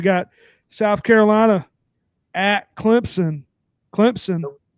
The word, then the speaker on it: Clemson: South Carolina at Clemson Clemson NOP yep there you go no is that right yeah you had put a p in there a p you saidon that's that's not how you say it sir oh I'm